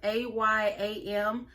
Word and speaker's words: Ayam: I think it's pronounced AYAM. It's AYAM.